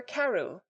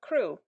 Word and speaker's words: Crewe: Madame Pascal pronounced it as if it were Karu instead of crew, but that might be merely a matter of pronunciation.